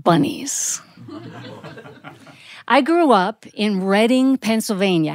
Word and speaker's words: Reading: the way it looks you think that's the way it's pronounced no it's Reading Pennsylvania named after reading England the birthplace of William Penn and when I was